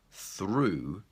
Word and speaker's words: through: are preparing bread dough the next example is ooh and the word I gave you was through it's quicker if you walk through the park ooh through and the final example is